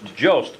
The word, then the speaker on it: Joest: say that in your last name is pronounced jos Jost spelling jo EST and is with